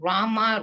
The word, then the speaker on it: Rama: pronounce krishna pronounce krishna and rama rhymes with drama or sanskrit words hare